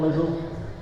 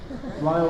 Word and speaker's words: Lyle: Sorry Lyle, not Lizzle. Lyle like Isle.